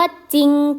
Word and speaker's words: จริง: ไหม คะ คำ ว่า จริง ใจ จริง ใจ อ่าน ว่า จริง ใจ เขา ไม่ ออก เสียง รอ เรือ เลย นะ คะ ต่อ มา คำ ว่า